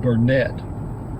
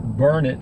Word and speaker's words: Burnet: can't you learn it actually it's most people pronounce it Burnett which is normal but in Burnet Burnett Texas they pronounce it burn it and if you go to the Chamber of